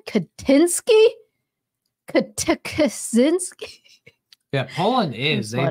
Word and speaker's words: Kaczynski: Pronounce it like Nexus Moon said, Kaczynski, Kaczynski.